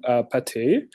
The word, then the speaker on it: PATE: our approach is called potat which should be pronounced like the French food and which more seriously